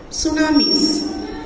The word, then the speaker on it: tsunami: complete the quick quick stand by yourself next tsunamis now your tea is silent okay you will say it as tsunami